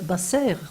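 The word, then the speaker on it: בשר: Parce que ce mot bassar, si je le prononce basser, c'est le verbe informer.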